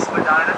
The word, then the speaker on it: Spadina: Spadina comes from the Ojibwe word Ishpadina, which means gentle rise to the land in Ojibwe.